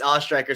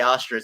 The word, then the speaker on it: Oestreicher: No, it's Oestreicher. Some people just say Ostrich, so I'm glad you at least gave it a try.